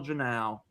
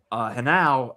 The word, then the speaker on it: Henao: But to say nothing more of speaking of just hot, Angel Henao. That is how you pronounce it, folks, not Angel Janao.